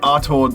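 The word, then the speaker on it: Artaud: makes his way to the artor theater you gotta pronounce it with a french accent in the theater he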